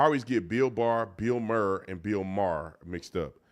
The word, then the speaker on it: Maher: I always get Bill Barr, Bill Maher, and Bill Maher mixed up.